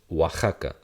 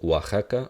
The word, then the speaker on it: Oaxaca: The O does it as well under one particular example. If it's before an A. So in Mexico, there is a state spelled like this. This is Oaxaca.